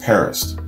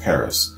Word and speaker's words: PVRIS: idea for who these guys are paris paris pronounced paris pvrs pronounced paris and stylized as pvr is is an american